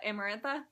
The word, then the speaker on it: Amarantha: Uh, Amarantha. Yeah, Emarantha.